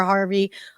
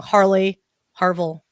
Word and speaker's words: Harville: So it's Dr. Harville, by the way. Sorry, Dr. Harvey. Oh my gosh, I said it wrong. Harville.